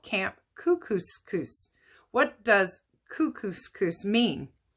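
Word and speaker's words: Kookooskoos: camp anyway welcome to camp cuckoo it rhymes with moose that's another good thing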